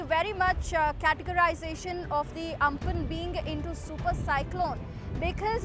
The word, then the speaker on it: Amphan: cyclone Amphan, which is spelled at AMPHN and pronounced as Amphan, which will be making a landfall tomorrow in the afternoon at around 2 p.m.